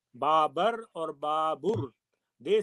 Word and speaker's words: Babar: of the academic person who said that it should be Babur really have been to the Central Asian countries to see how they pronounce it. So they pronounce it completely different. But as I feel that because he belongs to us, he is a king which we regard as with a high regard, so it should be called Babar.